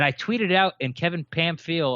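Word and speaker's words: Pamphile: been called him Kevin Pam Ville and Kevin Pam I'll but his name is actually you pronounce it Pam fee because he's he's uh yeah exactly Haitian French and we gave away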